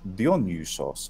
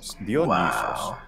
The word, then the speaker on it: Dionysos: Just so the Y that we have in our word is just an E sound, and of course the delta is mm-hmm. this. And but in the Attic pronunciation, it's Dionysos. And it's long too. Dionysos. That's a sound I would normally associate with either Germanic languages or sort of Romance languages that pretend to be Germanic, like French.